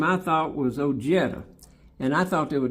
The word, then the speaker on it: Ojeda: Let's Americanize it and just say Ojetta.